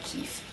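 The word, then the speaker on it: كيف: word for how is keif it's spelled the same but in modern standard you pronounce it more like cafe with an a sound there whereas in jordan and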